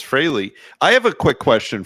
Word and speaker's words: Frehley: We pronounce Ace's name right on this show, kids. It's Frehley. It's not Freely.